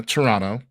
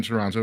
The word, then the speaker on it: Toronto: um, so we had Indianapolis, Atlanta, Toronto. As a person who has been in Toronto recently, or Toronto, sorry, not the T is silent.